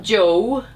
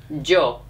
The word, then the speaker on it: yo: say I Jo Joe so there's no not Joe not Jo o Jo so that's the same